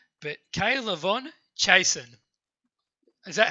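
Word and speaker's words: K'Lavon Chaisson: to butcher the pronunciation of his name, but Kaylavon Chasen. Is that how it is? Chasen. You pronounced it very Kaylavon Chasen.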